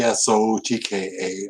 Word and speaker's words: Psotka: name is Sotka Sotka P SOT ka I rhyme it with vodka so make it a silent P Sotka photography is